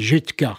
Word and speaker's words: Judka: que je suis gosseka en français ça se prononce et ça s'écrit judka oui Jud c'est juif K